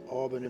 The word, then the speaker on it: Albany: Albany.